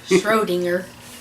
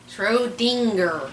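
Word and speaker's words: Schrödinger: Schrodinger. Well, there's a G there. Schrodinger. Oh, there's a G that's pronounced differently.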